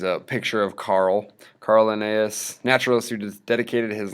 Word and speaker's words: Linnaeus: classifying living things so Carl Linnaeus is how you pronounce that name classified organisms into two